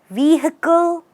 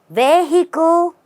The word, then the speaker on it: vehicle: what do you say how do you say this word do you say vehicle or vehicle there are many ways again which are not correct the right way is stressing on V and going vehicle vehicle try again